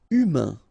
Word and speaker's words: humain: Humain. Remember, H doesn't exist, so U, then A-I-N together, un. Humain, humain.